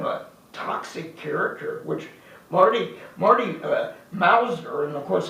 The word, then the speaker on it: Mauser: And particularly when somebody's kind of a toxic character, which Marty Mauser, and of course a lot of people always would mispronounce it Mouser, to put him down.